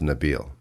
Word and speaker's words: Nabil: I wanted to change my name, not necessarily change my name, but pronounce it properly, right? And it's actually pronounced Nabil.